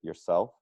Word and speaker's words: yourself: Make sure in the ending of syllables that the R sounds don't go away. So when we have the word yourself, yourself, make sure I really hear the Mhm.